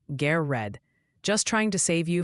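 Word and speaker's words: Garrard: Gared County in Kentucky is apparently pronounced G red.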